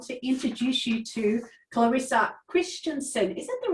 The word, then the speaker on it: Kristjansson: today i want to introduce you to clarissa christensen is that the right way to pronounce it is yeah i got it right